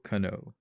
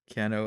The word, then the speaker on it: Kanno: was composed by Yoko Kanno or ken-oh added on drama pronounce her it's like ka and n oh right so basically she